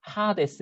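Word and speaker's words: ᾅδης: 그리고 요게 이렇게 있어가지고 H로 발음하라. 뭐 그런 식이에요. 그래서 하데스 이렇게 있습니다.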